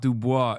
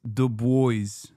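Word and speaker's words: Du Bois: No, it's not Dubois. It's the boys.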